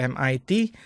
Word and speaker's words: MIT: Kalau MIT, kalau di pronounce itu kan M I T gitu kan. Terus kemudian kita lihat di bagian awalnya itu M. Tuh, ini juga suara vokal kan. Itulah kenapa kita menggunakannya an MIT.